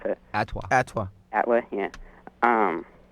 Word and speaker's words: ATWA: The song ATWA, I don't know how you pronounce it. Atwa.